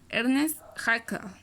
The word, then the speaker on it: Ernst Haeckel: El término ecología fue creado en 1869 por un alemán prusiano que su pronunciación es Ernst Haeckel, en su trabajo de morfología.